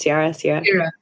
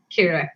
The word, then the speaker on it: Ciara: Sierra? Kira, yeah. Oh, Kira. Okay, yeah. Kira spelled Ciara, but okay, Kira, who